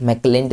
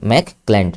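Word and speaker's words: McClelland: मैकलैंड की spelling M ए सी मैक मैकलैंड। मैक क्लैंड। ठीक है? सी एल ई एल एल ए एन डी क्लैंड। क्लैंड क्लैंड क्लैंड क्लैंड।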